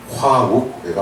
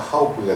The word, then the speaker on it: 화욱 고개: 그래서 화합할 화, 벗우, 화욱 고개가 원음입니다. 근데 화욱 고개가 발음이 어렵죠. 화욱 고개다 보니까 하욱 고개가 된 건데 제가 자료를 조사한 것만 해도 전국에 한 60여 개가 있습니다.